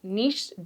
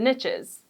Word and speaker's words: niche: There's this saying that the riches are in the niches. So you can say it niche or niche. I say niche, but it rhymes when you say niches, meaning the more specific